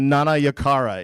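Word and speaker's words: Nanayakkara: fun uh and Nana yakara is how you pronounce my last name in case anybody was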